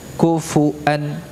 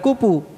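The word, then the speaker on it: كفوا: Ku ya, fa-nya juga dhammah, kufu, fu ya, pakai bibir bawah saja ya, agar tidak terucap seperti pu ya, bukan kupu ya, kufu ya, kufu ya.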